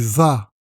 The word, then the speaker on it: vas: Tu vas. Tu vas. La même chose, le S final est muet.